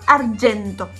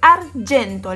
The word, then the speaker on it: argento: Y el color argento. Es argento, la G con la E se lee Y, no se lee G, o sea, no es argento como los argento, es argento.